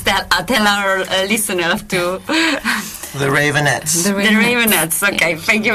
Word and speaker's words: Raveonettes: How is the real pronunciation of your name? Please tell our listeners to. The Ravonettes.